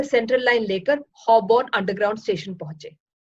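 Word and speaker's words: Holborn: से central line लेकर हॉबॉर्न underground station पहुंचे। हॉबॉर्न को वो हमेशा हॉलबॉर्न ही कहते हैं, उसकी स्पेलिंग ही ऐसी है। अंग्रेजी के साइलेंट लेटर हमेशा ही उनको परेशान करते हैं।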